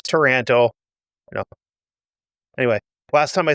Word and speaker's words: Taranto: Taranto is a city in Italy that's spelled differently than the city of Toronto in Canada. But it sounds like if you were from Minnesota and said Toronto, that's how it's supposed to come out, according to the Google